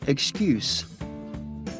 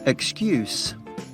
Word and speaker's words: excuse: The other way to pronounce it is excuse. Excuse. Listen to the difference. Excuse. Excuse. Notice the S sound at the end? When excuse is pronounced this way, it's a noun.